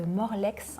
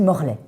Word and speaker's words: Morlaix: Alors Enora, tu es originaire de Morlex en Bretagne. Ouais, hein, exactement. je l'ai bien prononcé? On dit Morlaix. Morlaix, pardon.